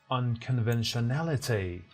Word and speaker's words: unconventionality: Pay attention to the stress shift, to the stress change. The adjective form is unconventional, and now the stress shifts to another syllable. It is pronounced unconventionality, both in American and British.